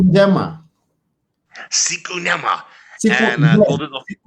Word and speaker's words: Njema: second word is Njema, and that's the Kiswahili translation of Better Days. How do Yeah. you say that? Siku njema.